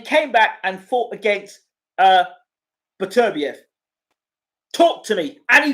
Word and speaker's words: Beterbiev: Bertibiev. I can't pronounce his name wrong. Beterbiev. Got it right.